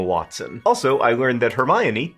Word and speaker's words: Hermione: also I learned that Hermione is pronounced her mind part of your brain